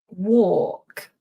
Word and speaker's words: walk: And this difference between walk is the or war. The L is silent. We don't pronounce the L.